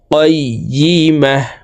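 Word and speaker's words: قَيِّمَة: গোলতা ওয়াকফের ক্ষেত্রে হার উচ্চারণ করব এবং হাকে সাকিন করে ফেলতে হবে। কাইয়িমাহ।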